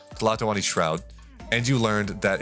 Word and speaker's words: Tlatoani: It's pronounced Tlatoani Shroud. Tlatoani Shroud. The T, you gotta like soft pronounce the T, and that's really hard for me.